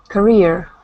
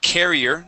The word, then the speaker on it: career: Career. Yeah, instead of carrier, this is career.